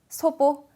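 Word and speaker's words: 祖母: 자, 첫 마디에 자, 조모라고 돼 있어요. 발음이 되시나요? 자, 할머니죠. 소보.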